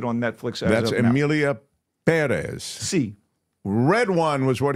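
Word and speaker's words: Pérez: really missed much Amelia Perez or Perez because the accent is on the uh first syllable C A thoroughly original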